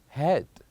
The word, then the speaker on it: head: Sleep, read, head. So in sleep and read, we have a longer vowel. But with the last one, we have a very short one.